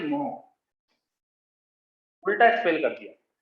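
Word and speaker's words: mho: 1 upon ओम इसको अपन बोल देते हैं मोह, उल्टा स्पेल कर दिया। 1 अपॉन ओम इसको बोल देते हैं मोह।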